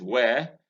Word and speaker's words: where: This is where. Again, where. This word WHERE pronounced exactly the same way as this one. You can see that they have exactly the same phonetic transcription.